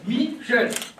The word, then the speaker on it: Michel: Alors, en deux syllabes. Michel.